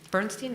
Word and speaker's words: Bernstein: We definitely, so far, I mean, there's Bernstein, right? That's how you pronounce it.